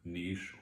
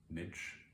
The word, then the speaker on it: niche: you have to find your Niche or as some people call it Niche I actually you know